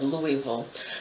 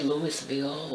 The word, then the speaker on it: Louisville: off our city of Louisville so I say that right Louisville Louisville Louisville you don't say it properly you move move move some people say Louis Beal or Louisville it's more Ville Louisville so anyway with that